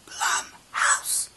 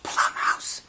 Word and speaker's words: Blumhouse: That's Blumhouse, not Plumhouse. I have been mispronouncing the name this entire time.